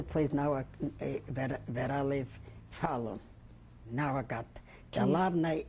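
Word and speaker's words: Falun: They called the place now where I live, Fallon. Now I got. The Larney is like Illinois, and Fallon is like Chicago. Fallon. Can you spell it? F-A-L-U-N. Fallon.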